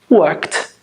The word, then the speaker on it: worked: What's the last sound? K. Work, k, k. It's unvoiced, work, worked.